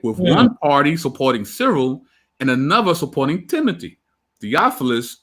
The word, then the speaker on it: Cyril: Yeah, that's how I've heard it, Cyril.